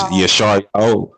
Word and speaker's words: Yasharala: true name of Yah, and the language of pronunciation of the alphabet and everything. So it's like Yasharala. What? Yasharala. It's Yasharala.